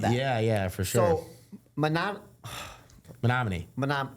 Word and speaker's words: Menominee: Yeah, Menominee.